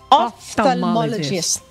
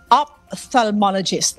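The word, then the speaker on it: ophthalmologist: Pero ngayon ko lang nalaman Miss Annie, ang pronunciation pala is off offalmologist. I Yeah, I always thought that it was opthalmologist.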